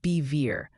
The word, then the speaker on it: Bevier: Bevier mo is pronounced bever like bet minus the t.